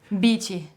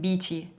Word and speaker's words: Bici: raised in Italy and my surname actually it's pronounced BT but since I was born and raised there nobody ever pronounce it like the right way they would pronounce it beachy which is a short